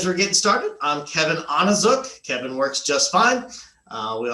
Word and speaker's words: Onizuk: As we're getting started, I'm Kevin Onizuk. Kevin works just fine. We often say it's Onizuk, rhymes with book, so it's kind of an easier way to remember.